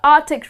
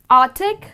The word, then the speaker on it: Arctic: need to add or you need to pronounce the letter C here so the way people pronounce it artic that's incorrect the correct